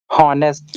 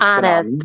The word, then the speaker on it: honest: Honest. No, the correct pronunciation is honest. The H is silent like honest.